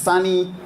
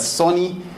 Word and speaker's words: Sonny: so I've been right introduced my name is funny Zulu is spelt as s all about NY a lot of members that don't know how to read that name the ridges Sony and sometimes I still answer to Sony but